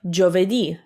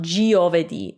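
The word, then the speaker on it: giovedì: would make jaw like jo vedi thursday jo vedi jo again we don't pronounce the i because again it's just there to soften the g it's not there to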